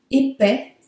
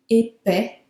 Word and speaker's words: épais: L'adjectif épais, épais. The singular, you don't pronounce the S. Plural, there would also be an S. Singular and plural, there is an S, always.